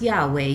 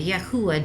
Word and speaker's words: Yahweh: And it could be pronounced Yahweh, Yahuwah, Jehovah.